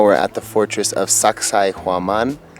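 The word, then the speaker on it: Sacsayhuamán: at the fortress of Sacsayhuaman. If you can't remember how to pronounce it, just think, sexy woman.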